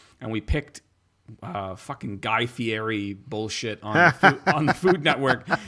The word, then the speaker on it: Fieri: Wait, it's pronounced Fieri.